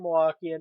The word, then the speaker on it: Milwaukee: And yes, that's how you pronounce it. As a true Milwaukeean, it's Milwaukee.